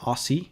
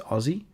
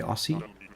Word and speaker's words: Aussie: pronunciation of aussie so it's not aussie it's aussie which many many americans do say ossie i don't know about